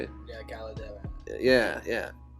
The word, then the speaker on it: Caldera: Yeah, Caldera.